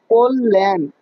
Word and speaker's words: কল্যাণ: কল্যাণ, এটা কিন্তু কল্যাণ না, এটার উচ্চারণ হচ্ছে কোল, কল্যাণ। না না, লান না, কল্যাণ, কল্যাণ। মানে এই যে তুমি বাংলা